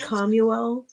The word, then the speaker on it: Chamuel: Now, it says it's pronounced commuel, but it's spelled Chamuel.